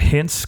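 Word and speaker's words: Hintz: at the end of the season they got hints coming up is that how you pronounce his name I yes okay good I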